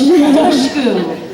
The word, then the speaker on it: Dushku: Dush like tush. Dushku.